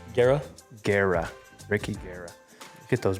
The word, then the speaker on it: Guerra: Gara.